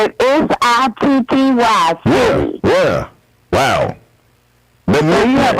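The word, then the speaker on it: Sitty: We spell it S-I-T-T-Y, City.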